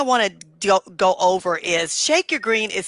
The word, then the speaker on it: ShakeURGreen: It's Shake, S-H-A-K-E, and then U-R. Okay? Then the color green. So Shake Your Green.